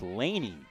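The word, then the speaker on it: Lani: correction of our pronunciation it's Lany Warren l a n i our apologies so now the 01 Delaney skipped in there Laney Warren is another one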